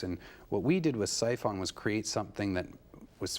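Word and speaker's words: Psiphon: which you've been receiving Awards uh do I pronounce it siphon cphon that's it's spelled PS i p o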